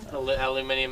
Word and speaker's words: aluminium: Aluminium is the British way to pronounce it.